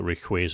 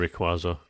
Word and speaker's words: Rayquaza: I also had to start calling it Rayquaza instead of Rayquaza, which makes perfect sense, but...